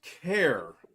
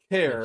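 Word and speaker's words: Kjear: probably one of them odd names that you don't pronounce one of the letters it might be Roy cure I don't know you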